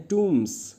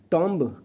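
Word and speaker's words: tombs: को प्रोनाउंस करते हैं टम्स या टॉम टी ओ एमबी को कहते हैं टम टॉमब कहा करते थे हम पर ये गलत इनंसिएशन होगा एंड इफ अनफिट फॉर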